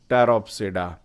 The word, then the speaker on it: Pteropsida: Here P is silent, so we are calling it Pteropsida.